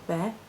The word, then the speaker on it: Beith: connecting with the ogum bear it looks like it's written beth but it's pronounced bear or bay depending on the guide it's the birch this